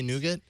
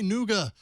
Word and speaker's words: Nougat: they do I think in the US say nougat but in the UK people are like I get emails for for All About Android where they're like you're saying it wrong we say noua that just feels wrong